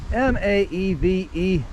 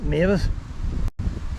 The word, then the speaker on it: Maeve: M-A-E-V-E-S. Is that Mavis? Maeve. The name of Maeve.